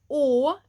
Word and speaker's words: å: you can think that the å is like the o in more, more.